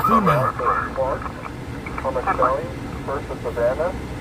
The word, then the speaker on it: Savannah: Thomas County, first of Savannah, phonetically Sam, Adam, Victor, Adam, Nora, Nora, Adam, Henry.